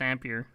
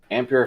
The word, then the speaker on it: Ampere: the question oh i said i believe it's ampere ampere founders edition cooling and power design yeah isn't